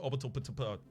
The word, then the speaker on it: Orbital Potato: It's pronounced Orbital Patado.